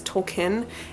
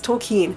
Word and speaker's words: Tolkien: and for me that's going to be people pronouncing JRR tolkien as token it drives me nuts drives me bonkers up a wall its toll keen and I actually I've always I always used